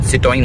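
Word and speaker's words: Citroën: आप लोगों को जिनको नहीं पता तो ये है सिट्रोइन इसका नाम प्रोनाउंसिएशन सिटin होता है।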